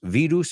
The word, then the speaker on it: virus: Y esta quiero que lo pronuncies. No es, yo sé que se escribe igual, por eso. No es virus, it's virus, virus.